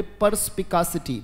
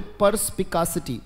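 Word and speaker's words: perspicacity: या फिर इसी के लिए एक वर्ड आता है, मेरे साथ बोलेंगे, बोले परस्पिकासिटी। बोले, शाबाश, बोले परस्पिकासिटी। वेरी गुड, बहुत अच्छे, उच्चारण करते रहिएगा, पर्स, PERSPICA, परस्पिकासिटी।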